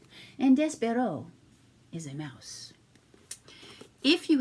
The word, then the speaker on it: Despereaux: the tale of despero now you will notice this barrow is spelled e-a-u-x at the end that is because it is a french word and so the e a u x instead of being is o so it is despero and despero is a